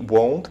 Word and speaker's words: won't: Помните, как читать правильно? Правильно, нужно использовать o. Вот такой вот звук. O. Здесь буква читается как o.